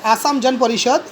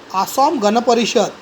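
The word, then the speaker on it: অসম গণ পৰিষদ: Okay, now the pronunciation थोड़ा weird है, नॉट एज per Hindi. आसाम जन परिषद नहीं बोल सकते इसको, गण परिषद है वो, आसाम गण परिषद.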